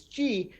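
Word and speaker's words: Xi: alphabet would have been the greek letter x i which incidentally is pronounced as g which happens to be the first name of the uh you know the chinese leader and the who deliberated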